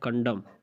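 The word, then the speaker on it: condemn: के बाद एन आया हुआ है, वो भी साइलेंट है। इसी तरह कंडम, कंडम मजम्मत करना, इसमें भी आप देख सकते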